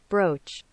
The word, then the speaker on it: brooch: Google brooch pronunciation. Brooch.